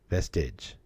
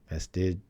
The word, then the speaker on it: vestige: Sounds like lid. Huh? Eege. Like the sound in lid. All right, so vestige. Is that right? Lid, vestige. I think I'm right. I always think I'm right. Rhymes with fridge, vestige.